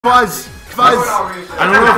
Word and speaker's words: Kwaz: Kwaz! Kwaz! I don't know if you ever watched, not to plug UK or European players, because EU, but real! If you ever watch Kwaz. That is the correct pronunciation.